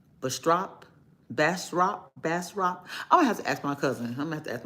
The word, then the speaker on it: Bastrop: I'm going to give it two syllables. Bastrop. But I know in Louisiana, you know, you got all this French saying, French ways of saying things. And so it may not be exactly how I'm pronouncing it.